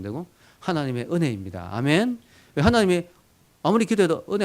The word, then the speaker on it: 아멘: 그 말에서 나온 말인데, 그게 이제 조금 아주 좀 이렇게 세련되게 발음하면 아멘하고, 미국에서 세련되게 하면 에이멘, 이렇게 에이멘 이렇게 발음하죠.